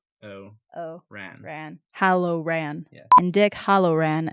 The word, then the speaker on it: Hallorann: Cynder: Dick Hollowrann. CZ: Hallorann. Cynder: Hallorann. Dick Hollowrann. Cynder: Hellorann. CZ: Hal-oh-ran.